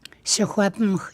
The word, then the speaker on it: Secwepemc: So you say a word Secwepemc. How do you say Secwepemc? I probably don't say it right. Secwepemc, yeah, you're close. You hear that Yeah. at the end? So that's almost a silent, non-English sound that you make, eh? I forget to say that.